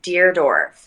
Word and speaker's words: Deardorff: name by the way it's dear dwarf like you're writing a letter to a dwarf okay dear dorf is